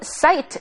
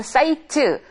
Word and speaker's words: site: 그다음 마지막으로 site 나오고 있네요. 우리가 뭐 사이트, site 이게 비슷하게 우리말과도 비슷하게 발음이 되고 있긴 있지만은 site라고 하게 되지 사이트라고 발음하지는 않습니다.